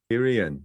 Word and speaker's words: Kierian: Am I pronouncing that right? Because you've got a lot of I's in there. Kierian. Kierian.